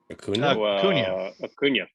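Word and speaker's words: Acuña: for the Atlanta Braves Acuna cunya plus wow we all think bad things wrong name wrong right not a Kunia it kind of rhymes with that Ozuna oh yep so that's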